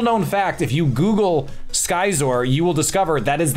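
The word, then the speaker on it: Scizor: way a little known fact if you Google skyer you will discover that is that that is actually the correct pronunciation it is pronounced skyer a lot of imposters are running around saying it's zor disappointing very disappointing learn your Pokémon Nido King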